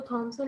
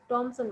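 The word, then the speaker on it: Thomasin: टॉमसन बुलाते हैं, वो थॉमसन नहीं बुलाते हैं। उनका ये कहना है कि ये टॉमसन वर्ड है, लफ्स नेम है, ठीक है। तो इसको वो टॉमसन बुलाते हैं। तो आपके पास दो टाइप की प्रोनाउंसिएशन है, दोनों में से आप कोई भी चूज करके बोल सकते हैं।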